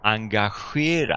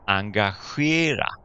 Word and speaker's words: engagera: Engagera. Alors, est-ce que tu peux essayer de répéter? Engagera. Ok, essaye. Encore? Engagera. Alors, tu remarqueras ici que même si on commence le mot par EN, on prononce AN.